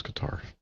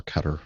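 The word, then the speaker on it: Qatar: qar well that's right it was qar um or Cutter however you want to pronounce it um yeah I know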